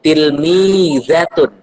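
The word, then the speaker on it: تلميذة: Cara bacanya yaitu tilmizatun.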